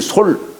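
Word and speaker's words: 率: 거느린다 할 때는 거느릴 솔 그죠 예 원수를 말할 때는 수라고 읽지만 거느린다 할 때는 설이라고 읽어요 솔 음 그 여기는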